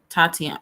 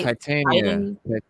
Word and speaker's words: Titania: Oh, she's playing Tatiana. Wait, yeah, Tatiana, whatever her name is. Yeah, Titania. Titania. Why did I say it like that?